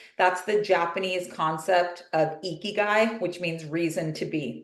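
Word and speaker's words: ikigai: of those categories that's the Japanese concept of eeky which means reason to be why you're here that's spelled i k i g AI we have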